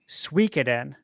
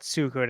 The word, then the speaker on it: Suikoden: Now it's pronounced Suikoden. Mm-hmm.